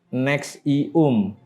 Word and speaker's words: NXIVM: Kate Rainier mendirikan organisasi pengembangan pribadi profesional bernama NXIVM, dibacanya NXIVM, di Albany, New York pada tahun 1998.